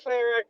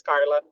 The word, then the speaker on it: Carla: I'm like, "Nope, it's not Clara. It's Carla."